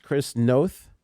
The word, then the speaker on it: Chris Noth: there that's fine thanks uh speaking of jsabs chris noth yeah that's how you say it is being